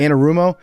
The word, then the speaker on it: Anarumo: you say his name yeah you got it anarumo he's so good he's going toig Co he's